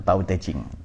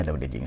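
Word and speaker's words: 道德經: Dao De Jing ya, atau Tao Te Ching. Cara bacanya Dao De Jing.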